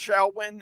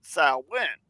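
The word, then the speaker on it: Samhain: things on this on uh shawin it it's pronounced shawin in uh a GIC it is a pagan religious Festival origined from an ancient Celtic Spirit tradition in modern times Sam samim a gelic word pronouncing sou went is usually celebrated October 31st to November 1st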